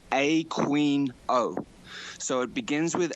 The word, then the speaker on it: Aquino: He doesn't pronounce it Aquino, which is how it should be pronounced. He pronounces his own name Aquino.